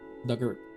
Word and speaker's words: Dugart: Pronunciation Douglike uh past tense of big or rhymes of her. Dugart. Doug. Dugger.